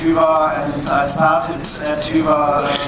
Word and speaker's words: Hyvä: You don't need to pronounce it correctly, you don't even have to pronounce the name of the company correctly. I say Hyvä, you say Hyvä, it's all fine, it's all great.